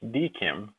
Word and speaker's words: DKIM: video we'll discuss what dkim commonly pronounced deim does and why you